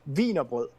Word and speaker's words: Wienerbrot: I mean, and we call it Vienna bread, or as it's pronounced. And don't laugh because it's funny anyway. Wienerbrot, or Wiener bread, almost.